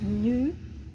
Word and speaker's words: nous: Viram o quê? Que quando a gente tem essa terminação de letra S aqui, ó, a gente não vai pronunciar esse S. Esse S, nas palavras em francês, qualquer palavra, a gente não pronuncia esse S. Sumiu um pouquinho ali da tela, voltei. A gente não pronuncia esses S's finais, a menos que na frente tenha uma palavra começada com vogal.